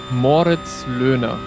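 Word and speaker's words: Moritz Loehner: Um, that would be, let me switch my brain back to German. Moritz Luna. That's how I would say it. That's how you usually say it in German.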